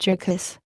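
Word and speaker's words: Jurgis: she had just been married to Georges, asterisk pronounced Jurkis, of all men, to Georges Rudkis, he with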